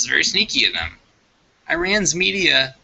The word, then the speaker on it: Iran: how's it pronounced again it's IR an i r Iran not wean Ian should think about